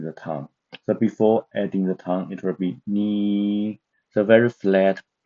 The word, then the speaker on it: 你: So now we can pronounce it because N is as no, and this one I is as E. So the pronunciation of the first pinyin is ni, but above the vowel we have a tongue, the third tongue, to make ni to be ni.